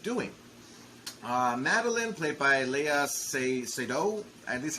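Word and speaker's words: Léa Seydoux: the capabilities of doing uh madeline played by leia seido and this is how you say it she's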